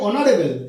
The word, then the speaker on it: honourable: দেখো অনারেবল, HONOURABLE অনারেবল, এই অনারেবল শব্দটা দেখো এইচ দিয়ে শুরু হচ্ছে কিন্তু এর উচ্চারণটা দেখো অনারেবল, এইখান থেকে শুরু হচ্ছে অনারেবল। তাহলে এই এইচ এর উচ্চারণ কি হলো? এইচ এর উচ্চারণ সাইলেন্ট হয়ে গেল।